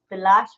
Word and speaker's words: Bilash: Bilash Roy. It's spelled R-A-Y, but he pronounces it Roy.